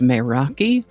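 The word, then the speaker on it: μεράκι: I think the more correct pronunciation is meraki, and what a fascinating rabbit hole researching meraki turned out to be.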